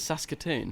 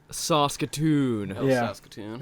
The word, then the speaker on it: Saskatoon: Saskatoon yeah it's very it's pronounced exactly how its spelt oh it is Saskatoon and you can't tell no matter how hard you try you can't sound cool saying that either Saskatoon yeah yeah yeah bro